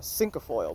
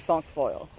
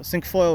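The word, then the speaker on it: cinquefoil: a year or two i was calling it uh cinco foil but it's this is song foil like the word um song so sink foil or song foil i've heard it pronounced both ways one of them's probably wrong i don't know which but it's not counting in spanish that's like a meme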